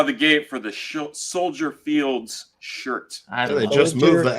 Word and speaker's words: Soldier Field: Field yeah it is you don't pronounce the S it's like Illinois yeah EX stence stupid